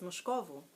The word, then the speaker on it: Moscovo: It's Moscovo.